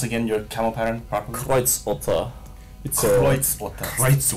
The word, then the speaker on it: Kreuzotter: Actually, can you pronounce again your camo pattern properly? Kreuzotter.